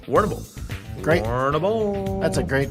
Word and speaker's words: Warrnambool: Yeah, Warrnambool. Warrnambool.